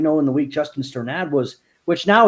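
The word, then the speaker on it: Strnad: Yeah, he said it was Sternad. Sternad.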